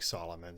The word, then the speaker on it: Salamun: because it's spelled differently it's spelled differently uh s-a-l-a-m-u-n but it sounds like solomon so like king solomon but not quite as wise is there like a